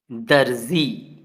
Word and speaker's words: दर्जी: अब अगला शब्द क्या है, दर्जी। क्या लिखा हुआ है, दर्जी। ऊपर छोटा सी लगा है तो जी के पहले रा का उच्चारण आएगा और ये नुक्ता वाला जा है तो जा, दर्जी, दर्जी।